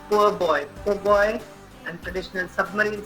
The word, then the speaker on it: po' boy: You have po' boy, it's pronounced as poor boy.